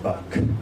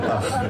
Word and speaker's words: Bach: And it's not pronounced Bach. That's what Americans say, but sorry. It's called Bach.